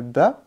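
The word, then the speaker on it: باء: Le ba, il est léger, qu'on a déjà vu.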